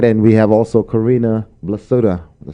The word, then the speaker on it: Corrinna Blasutta: And we have also Corrinna Blasutta. Did I say it right? You said it right. Okay. I'm always nervous of mispronouncing names.